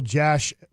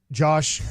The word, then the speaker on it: Yosh: Left tackle, Josh. Yosh. Starts with a Y.